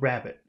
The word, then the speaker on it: rabbit: Now, if we say that word rabbit, rabbit, where's the accent on that syllable? Or which syllable has the accent in that word? Hello? Rabbit. Which syllable has the accent? Rabbit first. Rabbit. Okay. So we can't say rabbit. We can't do that.